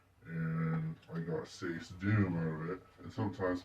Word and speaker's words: Sacedoom: And I got say doom out of it. And sometimes people do pronounce pronounce it wrong. They'll say sachi doom or sack sack doom or that's that one just doesn't make sense.